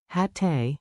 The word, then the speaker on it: hatte: Keep the double T crisp. Hatte, hattest, hatten.